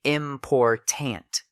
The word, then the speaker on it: important: Equal stress in important fix say important middle syllable stressed.